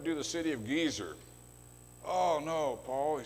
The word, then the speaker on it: Gezer: Brown, I learned how to pronounce the word Gezer, you know, the two segals, short E's.